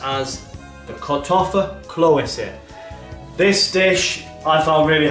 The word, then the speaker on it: Kartoffelklöße: So, today's dish is the comforting boiled German potato dumpling, and that's pronounced as the Kartoffelklöße.